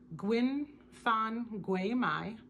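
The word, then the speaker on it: Nguyễn Phan Quế Mai: And the author is Vietnamese, so I apologize if I botch her name, but I believe you pronounce it Nguyen Phan Quy Mai.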